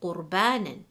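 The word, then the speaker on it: قُرْبَانًا: If the symbol before the ra sakina is a fatha or dhamma, then the ra sakina will be read heavy. Example, qurbanan.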